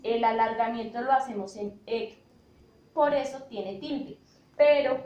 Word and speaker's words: Héctor: Cuando hablamos de la palabra Héctor, decimos que tiene 2 sílabas y termina en R. Por ende, va a ser una palabra grave porque decimos Héctor.